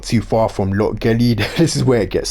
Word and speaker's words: Lochgelly: I've been pronouncing it wrong the whole time as well, so apparently it's Lochgelly. Lochgelly. Do you really think I have the capability of pronouncing it like that though?